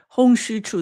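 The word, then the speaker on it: Hung Hsiu-chu: Hong Xu Chu, this is the English pronunciation.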